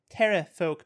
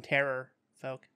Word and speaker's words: terrafolk: oh yeah the terrafolk their name is pronounced tara folk but we all call them terror folk they're monsters can i